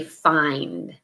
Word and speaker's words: find: a mmm Finn is not how we pronounce it we actually use the long I so say find and then you have